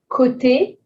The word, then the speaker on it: côté: Côté, O accent circonflexe is just an O, nothing to change.